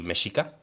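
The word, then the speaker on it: Mexica: Uh that's that's how for example the the the one of the names for the people that spoke uh natal is the Mishika and that's spelled with an X as well.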